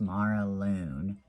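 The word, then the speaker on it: Maralunne: restoration deck okay my next deck is the mara loon and it's m a r a l u n n e but she says on her website it's pronounced mara loon so um of course it's not in order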